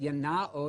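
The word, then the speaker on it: γεννάω: And that word beget, yanao in modern Greek, with the modern Greek pronunciation, yanao means to bring into existence, to give existence to.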